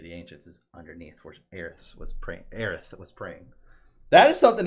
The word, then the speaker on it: Aerith: able to hear them say her name is Aerith.